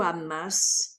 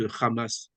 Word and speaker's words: Hamas: arabe en fait euh beaucoup euh disent ou amass ouiass c'est parce que c'est à la française c'est dit à la française c'est tout simplement voilà mais nous on le prononce ramas ah d'accord en arabe